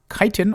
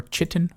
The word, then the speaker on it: chitin: hunting the beetles that drop chitin or chitin however you want to pronounce it and that can turn